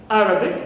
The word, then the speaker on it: Arabic: find some exceptions like in Arabic Arabic here the first syllable is rest it's a and not rate also for Catholic here